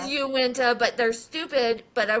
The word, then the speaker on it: Uinta: But that's the pronunciation that I found was the Wina, not Uinta. Well, it looks like Uenta. It is Uwenta, but they're stupid.